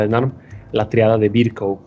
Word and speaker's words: Virchow: conocemos, pregunta típica de NARM, la triada de Virchow o de Virchow, se escribe en español con este W final y B chica.